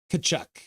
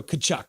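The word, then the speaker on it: Tkachuk: even know how to spell it the tea is silent kachuck yeah ritty like torren want see gritty so kachuck yeah yes kachuck KK h two nothing if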